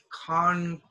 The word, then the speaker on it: concrete: concede proceed we go concrete now this is con crime sorry the stress is on con con creat concrete and this is come